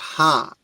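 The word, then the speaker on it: ຫ້າ: The number five in Lao is pronounced ha.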